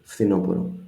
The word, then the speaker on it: φθινόπωρο: Το φθινόπωρο, this thing here, φθι, F and TH, I can think in my mind, FTH, φθινόπωρο, the fall. Χειμώνας, άνοιξη, καλοκαίρι, φθινόπωρο.